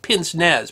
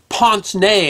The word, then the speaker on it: pince-nez: Now, you might have seen these kind of glasses before, and you might have heard them called pince-nez, but the actual proper pronunciation is pince-nez, and it means literally pinch nose.